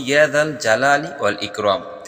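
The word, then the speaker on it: يا ذا الجلال والإكرام: বলছি এশার নামাজের পর ছোট্ট একটি দোয়া দোয়াটার উচ্চারণ হলো ইয়াদাল জালালি ইকরাম আবারো বলছি ইয়াদাল জালালি ওয়াল ইকরাম ইসমে আজম মহান আল্লাহর এমন নাম যে নামে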